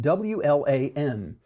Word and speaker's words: WLAN: people spell it out because local area network has been around as an acronym since the 80s or earlier and we've always called it in LAN I have heard a few people call it long but because of that we often say W LAN or Wireless LAN when we pronounce the acronym WLAN that's fine that's absolutely